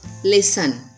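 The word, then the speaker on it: listen: Next one लिसन. अब यहाँ पर T साइलेंट है, लिसन पढ़ते हैं इसको.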